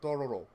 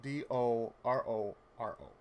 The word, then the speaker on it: Dororo: And the title of it is called Dororo, which is spelled D-O-R-O-R-O.